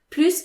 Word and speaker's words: plus: versus i want more plus is the last word of the sentence so it's not followed by an objective or adverb it means more so it has a positive meaning the s is pronounced like an s s okay so another example